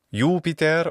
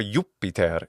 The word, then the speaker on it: Jupiter: father of the sky the sky father yuper or yuper In classical Latin pronunciation and the same pronunciation in ecclesiastical Latin what about the ancient